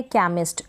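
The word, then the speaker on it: chemist: Silent H कब रहता है, एच जो है सी के बाद में आएगा, सी के बाद में एच आता है तो उसका प्रोनाउंसिएशन नहीं होता है, साइलेंट रहता है एच, सी के बाद में अगर एच आता है। तो यहाँ पर पहले स्पेलिंग है केमिस्ट, एस टी को स्टॉ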